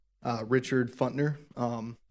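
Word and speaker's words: Pfuntner: And I've been saying it wrong the entire time. I've been putting the P in there and I apologize.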